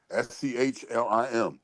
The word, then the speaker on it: Schlim: SCHLIM.